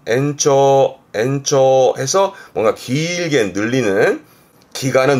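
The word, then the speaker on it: 延長: 그래서 연장, 발음은 엔초 해서 뭔가 길게 늘리는, 기간을 늘린다라든가 그럴 때 연장이 엔초가 이 한자입니다.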